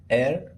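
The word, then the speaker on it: heir: तो ही इज एयर टू the throne. यहां पर एच साइलेंट है इसलिए एन आएगा।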